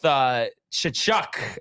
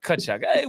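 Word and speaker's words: Tkachuk: I'm gonna go with Kachuk, as in Brady. Did I say it right or no? Kachuk.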